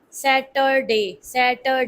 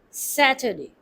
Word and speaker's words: Saturday: We will not pronounce it Saturday. No, Saturday. Your sound will be converted to ER due to schwa sound to make it more fluent. Saturday. Sat like hat, mat, pat, sat.